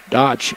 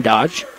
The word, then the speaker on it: Dodge: Dodge is the pronunciation, Dodge.